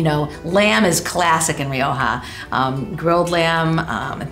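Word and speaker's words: Rioja: this wine from Spain and I love the pronunciation Roha and um and I I first tried and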